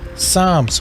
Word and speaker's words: Psalms: them we have Joe Psalms with the silent P Proverbs here's a tricky